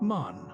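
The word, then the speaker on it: Mahon: He had a Roman nose, a snow white long beard, and his name was Mahan, but he insisted that it should be pronounced man.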